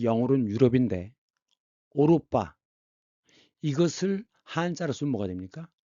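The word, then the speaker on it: 歐羅巴: 오이로바 그 영어로 유럽인데 오로빠 이것을 한자로 쓰면 뭐가 됩니까? 중국 발음은 오로빠지만 한국어와 한자음은 구라파입니다.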